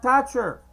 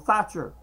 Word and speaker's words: Thatcher: Thatcher, because, you know, in Spanish, we don't pronounce the th, the TH sound. So if your name will happen to be Thatcher, and we would not even pronounce the T in the middle, so it wouldn't sound like, to somebody who speaks Spanish, the name Margaret Thatcher actually sounds like Margaret Thatcher.